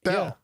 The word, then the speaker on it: Bel: Bell.